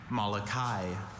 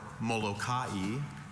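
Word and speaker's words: Molokai: Connor, your word is Malachai. Malachai or Mokai is an island of central Hawaii with an area of 259 square miles.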